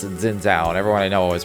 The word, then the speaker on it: Xin Zhao: There's the character, I've always pronounced it Xin Zhao, and everyone I know always pronounces it Xin Zhao. But it actually is supposed to be pronounced Shin for the X, Shin, and then Zhao.